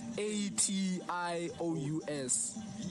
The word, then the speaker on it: vexatious: Okay, so basically the word is VEXATIOUS. VEX, what? My guy. Vexus. What's VEX? No, yes, it's pronounced VEX. Vex. And then shus at the end.